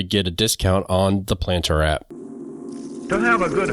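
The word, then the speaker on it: Plantr: using this app and the planter app which is spelled p l a n t r is available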